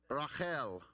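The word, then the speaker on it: רחל: It's a resh, a chet, and a lamed. So they would actually pronounce it Rachel.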